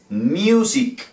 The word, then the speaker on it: music: Music. Music. Pero ya sabemos por qué. Porque esta primera sílaba termina en ¿qué? En U. La U en inglés se dice U. Entonces decimos mew. Mew.